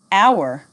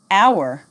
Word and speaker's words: hour: repeat after me right wrong wrist silent h hour honest air repeat after me hour honest air silent T listen Castle whistle repeat